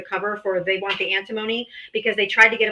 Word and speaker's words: antimony: I'm not exactly sure how to pronounce this name again. Antimony.